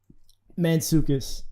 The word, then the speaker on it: Mantzoukas: How do you say his name? Mantzoukas. So Mantzoukas. Is that like Greek?